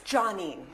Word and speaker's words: Jonene: Now that I'm older, I'm very much like, it's Jonene, named after my dad.